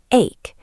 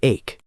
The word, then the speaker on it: ache: Notice the pronunciation here. It sounds like ache. The letters c h sound like a k. That is a great point, Layla. Many students say h, but it is definitely ache.